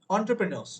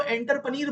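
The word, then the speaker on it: entrepreneurs: Pronunciation is ओ से pronunciation, लिखते ई है बट बोलते ओ है, एंटरप्रेन्योर्स, ठीक है। कुछ बच्चे तो एंटरपनीर बोलते हैं इसको, मैंने सुना है, कुछ तो इसको एंटरपनीर बोल देते हैं।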